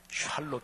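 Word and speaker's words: שָׁלוֹם: 성경 원으로 말하면 구약 원어 히브리어 2 말하면 샬롬 이구요 신약 헬라어 로 말하면 에이레네 이렇게 발음을 해요 사랑하시는 여러분 평강 평화가 넘치지 않아요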